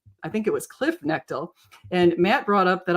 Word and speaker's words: Knechtle: So, it's Knechtle, really? Okay, so I guess we have a different pronunciation here. So thank you, Kip, for correcting me. It's Stuart and Cliffe Knechtle.